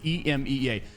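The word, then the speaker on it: EMEA: scene EMA scene really I'm sick of calling it Amia and it's not even a it's not even right it's it's definitely not the right way to pronounce it it's EMA regardless we're over this anyways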